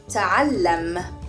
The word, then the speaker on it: تعلم: The word learn in Arabic is ta'allam. Ta'allam. Ta'allam. Ta'allam. Now let's break this word down to syllables and say them one by one.